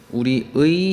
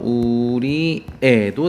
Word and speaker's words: 우리의: 조사로 올 때만 가능합니다 그래서 우리의 희망을 놓고 보면은요 위는 조사죠 앞에 채연 뒤에 붙어 있으니까요 그래서 우리 의도 되고요 우리 애도 됩니다 두 가지가 다 되고요 희망 같은 경우는 저걸